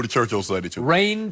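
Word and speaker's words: Reign: Rain Dakota Prescott. And it's spelled R-E-I-G-N. Rain.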